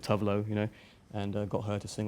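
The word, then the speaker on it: Tove Lo: And I'm a big fan of Tuvalu. I found out that's how you pronounce it, Tuvlo, and got her to sing on it as well.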